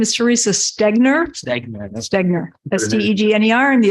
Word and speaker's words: Stegner: I want to go not so like I butchered it'd be great yes my name is Teresa stegner stegner that's t-e-g-n-e-r and the assessor for the